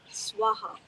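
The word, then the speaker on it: स्वाहा: They will say Om Buhr Bhuva Swaha or Swaha, and then tat-savitur, vareynyam, etc. Yeah, no. For purposes of this fire homa, swaha, 3 separate equal syllables.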